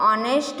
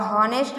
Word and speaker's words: honest: यहाँ पर देखो अवर एंड ऑनेस्ट में कॉन्सोनेंस एच है,